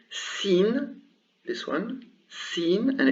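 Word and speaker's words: سين: two more consonants the first one is called scene this one scene and it's pronounced s and the second one is called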